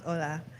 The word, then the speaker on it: Ola: everyone my name is Ola actually it's pronounced hola I'm evil fun facts